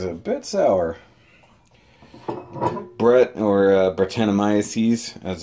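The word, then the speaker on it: Brettanomyces: yep that is a bit sour Brett or Bart annamaya sees as it's pretty much pronounced it's a type of yeast agent sour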